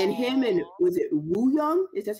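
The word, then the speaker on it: Wooyoung: And him and was it Woo Young? Is that how you pronounce his name?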